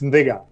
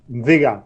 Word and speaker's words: Nthiga: - So the N is silent. It's Nthigah. - Say it again. - Nthigah. - Nthigah.